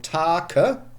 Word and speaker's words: take: And what we have today, you see, they were pronounced once, so Take, we spell Take, but we say take. This means there is a silent E in the end.